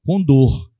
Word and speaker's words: condor: Só que a gente pronuncia em câmera lenta. Condor. É a idade condor, né? Não do côndor.